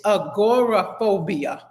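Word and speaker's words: agoraphobia: It's agorophobia. Y'all got it. Agorophobia. I know y'all can pronounce it better than me, but this is how they split it up. Agora and then they say phobia.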